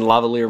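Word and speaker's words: LaValliere: Mike Lavalier, as in lavalier microphone. Is that how you pronounce it for real? Yeah, Alright. it really is.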